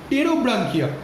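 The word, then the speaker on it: Pterobranchia: ওকে, একটা হচ্ছে এন্টেরোপনিউসটা, একটা হচ্ছে এন্টেরোপনিউসটা, এন্টেরোপনিউসটা, আরেকটা কি, আরেকটা হচ্ছে প্রোটোব্রাঙ্কিয়া, আরেকটা হচ্ছে টেরোব্রাঙ্কিয়া। ওকে, টেরোব্রাঙ্কিয়া, একটা হচ্ছে এন্টেরোপনিউসটা, আরেকটা টেরোব্রাঙ্কিয়া। পিটা সাইলেন্ট থাকবে।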